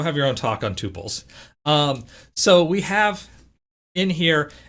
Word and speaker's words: tuple: a body, which contains tuples. Second point of pronunciation, tuples instead of tuples. If you are a tuple person, that's okay. I'm going to call them tuples.